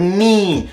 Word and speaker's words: knee: Look at the word knee. Why don't we just remove the K?